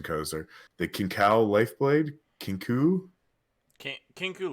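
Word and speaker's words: Kinkou: Kinku Lifeblade is how I'm hearing most people pronounce it.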